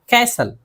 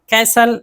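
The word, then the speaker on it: castle: अक्सर सी एच से पहले या फिर ई एन और एल ई से पहले, इन तीनों सूरतों में टी नहीं पढ़ा जाता है।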